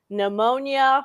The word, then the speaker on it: pneumonia: For example, the word pneumonia starts with a P. Why? That doesn't make any sense. You don't hear that P.